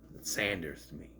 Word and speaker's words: Sanders: name is not Buffy Saunders by the way they pronounce it Saunders but it spells Sanders if you want to pronounce it Saunders you got to put a u in there s a u n